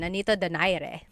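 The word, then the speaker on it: Nonito Donaire: So, our first poll here is going to be Mani Pacquiao versus Nonito Daire or is in in the Tagalog uh pronunciation. Nonito Dare.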